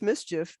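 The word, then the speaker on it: MSCHF: the brooklyn-based prank company whose name is pronounced mischief and uh the video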